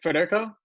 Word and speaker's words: Federico: It's Federico, am I saying it right?